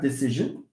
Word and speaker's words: decision: So when you have a word that ends in ik or shin and jin, okay? The rule says that stress falls on the penultimate, okay, on the penultimate syllable.